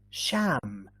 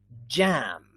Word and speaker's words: jam: with a different sound jam not sham jacket not shack it general not general age not ace fridge not fresh okay good there's another